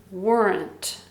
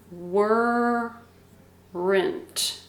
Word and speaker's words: weren't: can put them together weren't weren't weren't so it's kind of like two syllables were rent were rent weren't we say it really fast weren't weren't i put them